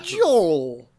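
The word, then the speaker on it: gaol: conscientious obors in jail or as the English spell it uh goal what g a o l because uh Joel Joel yeah they she actually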